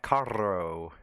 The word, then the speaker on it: carro: difference between caro and carro. There's a difference. Carro. Yeah, because isn't the double R like its own letter? It's a roll. You roll it. Carro.